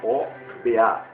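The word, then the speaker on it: Hoba: persegui-los até roubar roubar h o b a ou pronunciamos oba que fica ao norte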